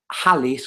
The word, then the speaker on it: Halley's: So Halley's Comet was based, Halley's Comet, that's how it's pronounced, was based on observation, not observation of orbits.